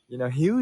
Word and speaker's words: Hieu: Hugh is my name, Hieu, Hugh, and it pronounced like healing or something.